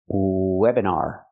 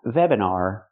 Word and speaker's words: webinar: The word is pronounced webinar, not webinar. We cannot contact our lip with our teeth. V. We need to make it open and low. The position is low for the W sound.